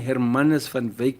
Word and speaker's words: Hermanus van Wyk: Captain Hermanus van Wyk Memorial Hall. Is it how we have to pronounce it?